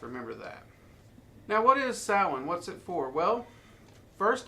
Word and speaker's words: Samhain: Now, it is usually pronounced Samhain or Samhain.